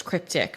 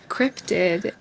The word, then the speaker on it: cryptid: spell it yes cuz I thought it was cryptic for like 500 years crypted is like crypto but just without the O and an ID so c r y